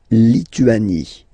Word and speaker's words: Lituanie: La Lituanie. Remember in French, sorry, H doesn't exist, okay, so you don't pronounce it, and it's Lituanie, Lituanie, la Lituanie.